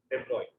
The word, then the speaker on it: de Broglie: The last concept of this chapter, which is pronounced it as the de Broglie.